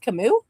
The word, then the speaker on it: Camus: It's pronounced Camus.